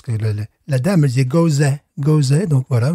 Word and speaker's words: Gose: disait Gose, donc voilà, je vais dire Gose, comme elle, tu vois. Bien sûr. Je sens que les Allemands vont rire de moi, mais ça, c'est pas grave. Donc, on l'a prononcé à la française, la Gose, à la française, la Gose, n'est-ce pas?